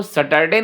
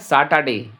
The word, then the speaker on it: Saturday: देखिए बच्चों यहाँ पर भी एक शब्द है, इसको सैटरडे नहीं बोलना है, इसको बोला है सैटरडे। क्या बोला है? सैटरडे। रा साइलेंट हो जाएगा इसमें।